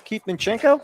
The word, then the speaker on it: Minchenko: I believe we haven't been introduced yet, but do I have Minchenko? Yeah. Did I say it right? Yeah.